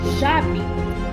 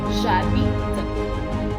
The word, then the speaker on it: j'habite: So we will begin with j'habite. Please note, read them as if they were one word, J and A, and the H is silent. So J plus A is ja, j'habite.